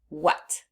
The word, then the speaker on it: what: The letter A is making the short U sound. Uh uh. And we don't expect that.